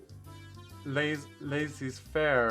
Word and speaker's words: laissez-faire: In contrast, this person over here is quite laissez-faire about things. Is that how do you pronounce that?